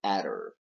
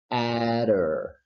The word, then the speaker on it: adder: And the reason why this happens is because here we have a phonetic um, instance of what we call flap T or flap D. So just to emphasize the pronunciation of this word and flap D, we say adder, adder.